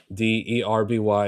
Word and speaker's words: derby: other it's called it's called it's pronounced derby d e rb y is pronounced derby.